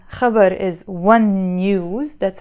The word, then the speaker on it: خبر: to give you so عم سجل هالفيديو تأعطيكن خبرين خبر is one news that's how you say it